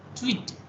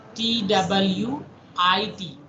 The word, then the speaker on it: TWT: A traveling wave tube, sometimes you need to pronounce twit, TWIT.